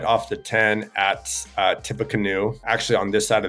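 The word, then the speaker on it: Tippecanoe: but it's tipa it's it's going to look like perhaps Tippy Canoe uh but it's pronounced tipa canoe right in here Napoli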